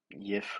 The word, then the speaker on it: Jif: Uh, and this peanut butter on the bottom is Jif, or Yif, or I don't know how you say it. I call it Jif. It's just Jif, their natural creamy peanut butter.